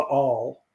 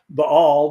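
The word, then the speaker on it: Baal: b-a-a-l a lot and that's actually and i'm trying really hard to pronounce it the way it's supposed to be pronounced it's the all and it's you know i've been pronouncing it bail for 40 years and and now i found out a few weeks ago that it's all but anyway uh they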